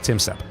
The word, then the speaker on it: Tom Step: For those who are wondering, why do I say Tim Step? It's, you know, it's obviously Tom Step. His name is pronounced Tim Step.